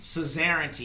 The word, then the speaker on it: suzerainty: Suzerainty. Yeah, it's What like does some... that even mean? Like Czar, like Caesar. Yeah, it's sort of like that. Really? Like suzerainty. It's like an old word